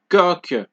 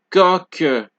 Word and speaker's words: coq: Okay, so QU as well as Q at the end of a word are both pronounced like K. Example, question, quelle, manquer, 5, coq.